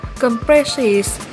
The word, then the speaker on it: compresses: Và danh từ cuối cùng được đọc là compresses, nhấn âm 2 luôn.